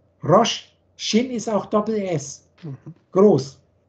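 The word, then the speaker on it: ראש: Der rote Kopf schreibt sich übrigens das wird Rosh ausgesprochen, dann heißt es Kopf. Rosh, Shin ist auch Doppel-S, groß.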